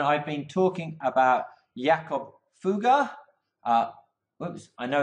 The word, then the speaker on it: Fugger: model guru and I've been talking about Jakov fuga oops I know it's bet looks like but it's spelled like ooh girl tries with Cougar and